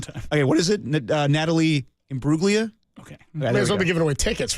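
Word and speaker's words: Natalie Imbruglia: do it one time okay what is it Natalie IM bruga okay well giving away tickets right stavos Mir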